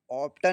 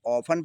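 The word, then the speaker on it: often: दूसरी मीनिंग है ऑप्टन नहीं पढ़ेंगे। इसे हम ऑफन पढ़ेंगे। टी साइलेंट रहेगा।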